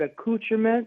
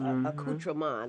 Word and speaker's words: accoutrement: See, I learned how to say it from somebody from that country. And see, I had to learn how to roll that vowel.